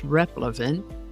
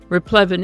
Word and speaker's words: replevin: Today's word is replevin. You might also hear it pronounced as replevin. Replevin is a noun that